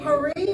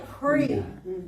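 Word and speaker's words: פרי: Now, you can either say pari or pri.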